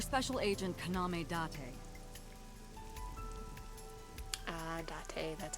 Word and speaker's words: Date: you serious your special agent kaname date ah date that's how you say it i'm still gonna